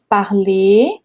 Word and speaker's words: parler: Então, atenção à pronúncia, hein? Parler, aqui a gente tem um som de E com acento circunflexo, né?